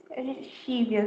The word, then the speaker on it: Scivias: SCIVIAS, Chívias, né? Pela pronúncia do latim.